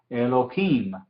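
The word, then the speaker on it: אלהים: Elohim. Him es la sílaba tónica, entonces el atna aparece aquí.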